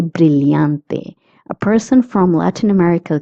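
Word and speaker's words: brillante: If you're in Latin America, you will pronounce the two L's as Y. Both pronunciations are right.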